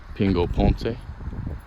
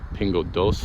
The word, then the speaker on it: Pingo Doce: their personal space, but Pingo Ponce, Doce, sorry, Pingo Doce, that's how you pronounce it.